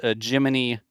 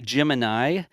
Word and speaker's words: Gemini: And uh yes, I saw some people in chat either saying we pronounced Jiminy correctly or incorrectly. If you've heard people say Gemini, that's like saying the VAB, you know, because